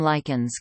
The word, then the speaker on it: lichen: In British English, both this pronunciation and one rhyming with kitchen are used.